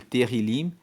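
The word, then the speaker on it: Tehilim: E Terrilim, que eu já falei que se escreve T-E-H-I-L-I-M, quer dizer louvores.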